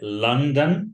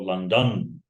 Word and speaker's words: London: going then about London is it London or London first or second in London the first yeah okay so I'm going to London and again yeah first